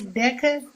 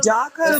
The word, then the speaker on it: DACA: DECA. That's DACA, the acronym.